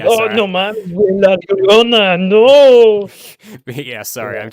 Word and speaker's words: La Llorona: oh Sorry, no, man, la Llorona, no. yeah. Sorry, Yeah. I'm too white to pronounce her name.